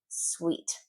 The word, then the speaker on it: suite: Sweet.